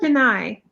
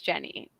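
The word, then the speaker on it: Jennie: is it jenny yes i thought deny no it's jenny okay i mean it's spelled jenny but i um and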